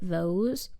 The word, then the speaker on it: Voss: In her deposition, she pronounced it Vose, but I've never heard it pronounced that way.